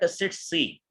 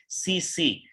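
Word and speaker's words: tsetse: अब मैं थोड़ा सा अगेन इसको क्लियर कर दूं, कुछ इंग्लिश ग्रामर के अकॉर्डिंग इसको पढ़ा जाता है टसिट्सी, लेकिन इसकी राइट प्रोनाउंसिएशन क्या है, गूगल पे आप जाके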